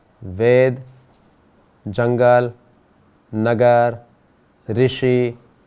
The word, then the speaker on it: ऋषि: तो आपको भी ये समझना है कि जब रू गुजराती में बोलते हैं लेकिन हिंदी में इसका उच्चारण हमें री करना है, और यहाँ भी क के साथ ये री जुड़ा हुआ है, इसलिए ऋषि।